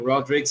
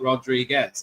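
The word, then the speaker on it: Rodrigues: That was a fine delivery to get rid of Shafali Vadma, but Jamaima Rodrigz has fought her way back. And it is of course pronounced Rodrig, not Rodriguez. It's Portuguese.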